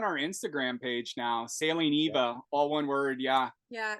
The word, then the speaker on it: 'Iwa: But I just wanted to say it's Sailing Eva, but it's spelled IWA. Yeah, that's right. A lot of people will read it Iowa, but it's Eva. It's the great frigate bird, and that's that name is Hawaiian.